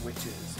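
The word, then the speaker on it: Wytches: a book called wies actually it's pronounced witches but it's a really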